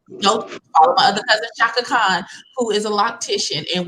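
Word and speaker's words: Chaka Khan: Yeah, Shaka Khan. Shaka Khan. It's Shaka Khan. spelled Shaka differently. Khan. it's spelled differently, but her name's Shaka Khan.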